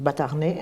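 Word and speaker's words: Batarnay: en Humbert de batarnet ça s'écrit bastarnet mais enfin ça se prononce batarnet Humbert de batarnet né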